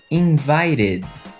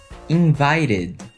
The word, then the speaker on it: invited: e só que você vai desconsiderar a vogal e e vai considerar a consoante que é o t por conta do t no final do verbo no passado regulamos com ed repeat invited invited conseguiu entender nós temos